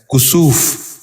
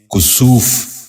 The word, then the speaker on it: کسوف: غور سے سنیے، کسوت۔ ساتواں لفظ ہے کسوف۔ یہ غلط تلفظ ہے، درست تلفظ ہے کسوف۔ دوبارہ سنیے، کسوف۔ بچوں آپ بھی غور سے سنیے، کسوف۔ آٹھواں لفظ ہے کرج۔